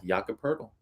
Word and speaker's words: Jakob Poeltl: So I think this is a good spot for our guy, Jakob Poeltl, over 8.5 Great rebounds. name pronunciation, by the way.